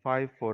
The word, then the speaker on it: FIFO: 시 따라 그래서 너를 fifo 라고 하고 파이퍼 라고 있는다고 얘기 했어요 그리고 과 름은 이 파이퍼 라고 발음 하라 이제 영어사전 상 의 발음은 이렇게 돼 있다 여기에서 그림 상어로 보게